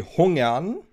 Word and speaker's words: Hungern: I have no idea if I pronounce this name right, but the actual pronunciation would be Hungern, and it's German for being hungry.